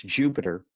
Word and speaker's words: Jupyter: start working okay um Jupiter spelled with a Y well shall explain in a minute but pronounce Jupiter is a open source